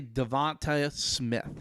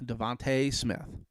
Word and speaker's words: DeVonta: dolphins at number six say devonta smith devante smith it's pronounced two different ways but devante smith out